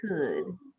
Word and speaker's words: could: Should and could.